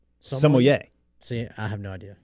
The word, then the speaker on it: sommelier: tutorial on that because i was out here saying somalia what is it sommelier see i have no